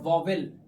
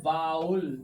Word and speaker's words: vowel: देखिए एक तो आप ये समझ लीजिए कि जो VOWEL है ना, दिस इज नॉट वॉवेल, ये वॉवेल नहीं है, दिस इज कॉल्ड वाउल। इसका राइट प्रोनाउंसिएशन वाउल होता है।